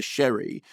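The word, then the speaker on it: Shere: um however there was somebody who said it's pronounced Sherry no it's not it's all the way through the film it's pronounced Sher and then some people who know her and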